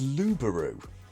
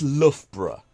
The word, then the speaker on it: Loughborough: I heard a German take a stub at pronouncing this once and it came out as luberu but to the locals it's Loughborough which is a horrible trap I also once